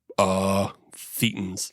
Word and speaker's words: thetan: No, those are thetans. Oh, okay. Yeah. I don't know, man. That's not my jam. Thetan rhymes with cretin.